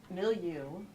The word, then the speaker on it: Milieu: like hearing that um millu which is how you say millu um is an environment